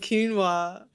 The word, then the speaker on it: quinoa: always thought Quin I always thought couscous and quinoa because it just it's spelled like quoa but it's pronounced quino so